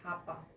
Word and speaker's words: hapa: but they call it hapa instead of aa okay they have ha instead of a okay so that's how